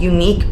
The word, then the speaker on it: Unique: is from a Indie brand and it's called unique beauty unique is spelled EU n-i-q-u-e and it's a brand from